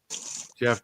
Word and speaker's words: Geoff: And that darn geoff John's again or Jeff John's. How Goff is spelled Jeff, I do not know.